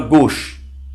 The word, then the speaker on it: gauche: A U é um som muito fácil, pronuncia-se como O. Um O fechado, né? O.